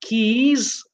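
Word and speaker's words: cays: to offer private islands or private keys even though it's spelled CA Y for you to go to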